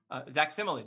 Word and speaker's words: Zach Simili: How do you pronounce the full name? Zach Simili? Zach Simili, that's right.